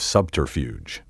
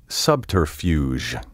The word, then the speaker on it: subterfuge: Mystery and spy novels abound with myriad examples of the art of subterfuge. Be careful not to soften the G in this word and say subterfuge. The fuge should rhyme with huge.